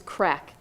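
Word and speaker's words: craic: And the last one is crack. It doesn't mean what you think it means. It's spelled C-R-A-I-C, and it actually just kind of means fun.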